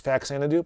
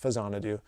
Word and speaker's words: Faxanadu: do I mentioned um you may know it better as faxanadu but it's it's pronounced fanad do watch the videos you'll